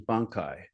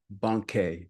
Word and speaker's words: Bankei: Linji is making that same suggestion as Bankei. Oh, I mispronounced them finally. Bankei, excuse me.